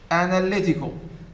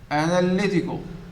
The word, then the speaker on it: analytical: can see it here the third syllable is the stress syllable the one that receives the stress compared with other syllables